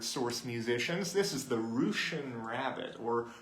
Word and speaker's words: Roosian: This is the rouchian rabbit or Russian according to some, but I like it pronounced and spelled Rian.